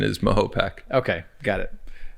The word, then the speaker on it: Mahopac: Well, the way to remember, to get really corny, is just think of a Native American dropping their pack of cigarettes in a lake, and he would say Mahopac.